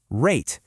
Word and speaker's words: rate: That silent E on the end is like a little command. It's telling you to change the sound of that A from a short A to a long A sound.